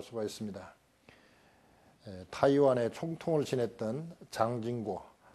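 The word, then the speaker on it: 蔣經國: 있습니다 타이완의 총통을 지냈던 장진고 중국말로는 장진거고 우리 식으로 발음하면 장경국입니다 장개석의 아들인데 총통으로 있을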